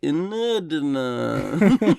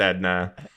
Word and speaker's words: Edna: the grandmaster lobster, he always says her name like Inedna. It's like Edna. There's an extra syllable in there, snuck in there. No, it's just Edna.